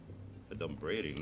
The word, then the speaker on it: adumbrating: Adumbrating, that's not even a word. Okay, first of all, it's pronounced adumbrating.